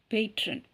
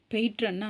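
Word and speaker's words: patron: சோ அடுத்த வார்த்தை பேட்ரன் பேட்ரன் பேட்ரன் பேட்ரன் பெட்ரன்ா வந்து பேட்ரன்ு சொல்லுவாங்க பைட்ரன் பேட்ரன் சொல்லக்கூடாது அது வந்து அவ்ள சரியான உச்சரிப்பு கிடையாது பெற்றன் பெற்றன் அப்படின்னா புறவளர்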